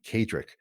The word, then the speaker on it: Kaedrich: and everything absolutely just look for my name cadrick it's spelled k-a-e-d-r-i-c-h and you'll unlock a whole world